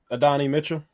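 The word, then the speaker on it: Adonai Mitchell: Then you also had the, how do you pronounce his name? The guy that starts with the A. Adonni Mitchell.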